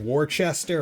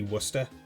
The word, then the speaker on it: Worcester: think it's pronounced like War Chester or War sester but it's actually wer although that's with our pronunciation it's more wer but we everyone here calls it wer um yeah Massachusetts in